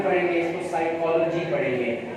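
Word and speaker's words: psychology: बाद अगर P starting में हो तो P साइलेंट होता है। न्यूमोनिया पढ़ेंगे, इसको साइकोलॉजी पढ़ेंगे।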